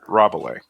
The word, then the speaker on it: Rabelais: I've been talking to this one of my coworkers about Rabelais. That's how you pronounce it, like the Gargantua and Pantagruel.